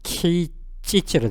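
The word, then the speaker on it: 啓蟄: 일본어 발음은 케이찌찌로 되어 있습니다.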